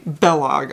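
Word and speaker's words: Balogh: i believe it's bellog like kellogg without the k use of bae so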